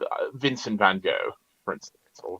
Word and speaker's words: Van Gogh: Uh, like Vincent Van Gogh, for instance, or Van Gogh, as it's pronounced correctly.